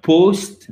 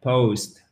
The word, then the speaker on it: post: Ensuite, nous avons, nous avons un O, mais sous forme de diphtongue. Ce n'est pas un post, mais un post. Pao, ao, ao, ao.